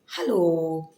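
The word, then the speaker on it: Hallo: informal greeting ते आहे हॅलो हॅलो म्हणजे अर्थातच हॅलो फक्त हे जे स्पेलिंग आहे ते थोडस वेगळ आहे जर्मन मध्ये एच ए एल एलओ असा आहे त्याचा उच्चार आहे हा लो हा लो आता या पुढची काही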